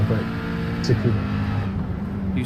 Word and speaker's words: Tsukuba: I say Tsukuba, like scuba, but Tsukuba.